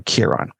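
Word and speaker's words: Chiron: So Achilles is raised by the centaur of Kiron or Kiran. People pronounce in different ways and the entire life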